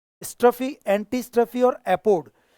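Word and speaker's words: epode: इसमें स्ट्रफी होता है, इसमें एंटी स्ट्रफी होता है और इसमें एपोड होता है, ईपोड नहीं, दिस इज एपोड। स्ट्रफी, एंटी स्ट्रफी और एपोड, ये पुरानी पिंडर जो था ये बहुत पुराना 5th BC का एक ग्रीक पोएट है।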